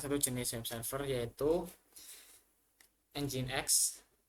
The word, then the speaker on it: nginx: jenis web server yaitu engine X jadi bacanya engine X bukan ngin X atau nging di sini Saya belajar